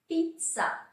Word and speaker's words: pizza: Pizza. I know everybody knows pizza, but I wanted to add it so that you know the Italian pronunciation.